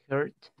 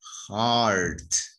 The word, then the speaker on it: heart: Hurt. Heart. Remember pronunciation, heart, no heart, heart.